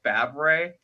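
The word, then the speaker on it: Favre: is brett barb but his last name is pronounced fab ray oh this is like fabric yeah i'm just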